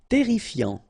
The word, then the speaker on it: terrifiant: Terrifiant. Final T not pronounced. Double R here, so it will open the pronunciation of your E, and then it will be E, terrifiant.